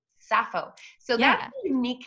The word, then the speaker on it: Sappho: Sappho, and I have to say your name is spelled Sappho, which is pronounced hmm Sappho.